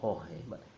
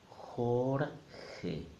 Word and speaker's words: Jorge: he's going twice good IJ is equal to G and he's gonna are in the middle that must sound horn hey no Jorge Jorge two syllables then we have the